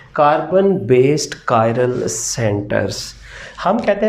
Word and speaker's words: chiral: ये लफ्ज़ आपने KI इसको ऐसे प्रोनाउंस करना है, कायरल, KIRAL। इसको और कोई नहीं, चिरल वगैरह या चायरल नहीं पढ़ना आपने, इसको कायरल कहना है।